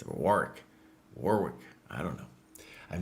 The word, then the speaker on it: Warwick: I'm probably Well, if I say Warwick, they'll be like, "No, boss. That's not the way you say it. It's Warick.